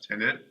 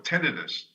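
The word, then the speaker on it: tinnitus: like no no no that's that's tentis t i n i t s tenit or tenus t i n i t any way you want to pronounce it is fine but it's not in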